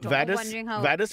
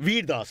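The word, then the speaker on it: Vir Das: Vadas was telling us on the show. How do you pronounce it? Veerdas.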